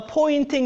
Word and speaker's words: Poynting: want you to note a pointing is a spelled a weird it sounds like a pointing as if I'm pointing and it's confusing because